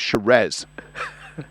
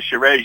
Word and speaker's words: Shiraz: the conversation, they sell some very, very nice Shiraz. Yeah. I believe you have to purchase one today, Rob. Neil, I don't want to disappoint you. The Shiraz you'll be getting will not be coming from Chateau Mountainside Wine.